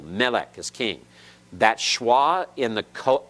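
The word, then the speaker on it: מֶלֶךְ: alright the vowel Asst final cough has a schwa in it it is silent this is Melek you've heard the Hebrew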